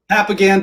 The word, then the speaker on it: Papagan: Am I saying that right? Papagan, but however you want to say it, I believe in freedom of speech. So however you want to pronounce my name is fine with me. No, let me get it right. Papagan. All right.